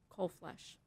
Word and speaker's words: Colflesh: for the court reporter my name is colflesh um it's about s-u-s-a-n -c-o-l-f-l-e-s-h coal flesh thank you your Witness